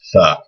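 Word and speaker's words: ث: And it makes a TH sound like the word thing. In English, TH can either be the or tha. There's different letters in Arabic for both those sounds. This one is just tha.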